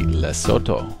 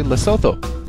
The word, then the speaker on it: Lesotho: you may call this country lesotho but you might also call this country lesotho depending on who you are and where you're from and how you say it in any case